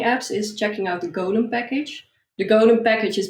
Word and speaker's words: golem: do you spell that that's like the lord of the rings golem yes g-o-u-g-o-l-u-m yeah yeah